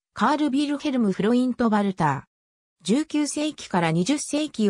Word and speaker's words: Walther: を行ってきたなお生のヴァルターはドイツ語でバルカーのように発音され日本でもそう表記